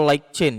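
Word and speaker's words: LightChain: Nah, light chen kita bacanya like chain ya biar ee mengikuti bahasa aslinya.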